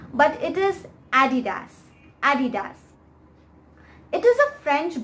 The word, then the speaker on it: adidas: adidas i seriously have heard some very strange pronunciations for this name but it is adidas adidas it is a french brand and the